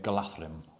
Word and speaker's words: Galadhrim: I realize I should be saying Galadhrim, right? That's how it should be pronounced.